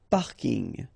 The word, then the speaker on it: parking: So I know it's coming from English, but still you should pronounce it the French way.